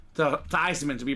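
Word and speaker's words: Theismann: or Joe thyman uh his name is actually pronounced Joe theeman that's his family's name uh over at Notre Dame he was fighting for the Heisman uh Notre Dame staff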